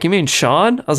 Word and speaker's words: Sean: Scene Bean, as I called him probably like 5 years after watching this movie. And then they were like, you mean Sean?